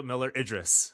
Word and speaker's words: Miller-Idriss: And I was like, oh, the last name is the same as his first name. That's exactly how you say it. Yep. Okay. Perfect. All right. So now people know Idris Elba, Cynthia Miller-Idriss.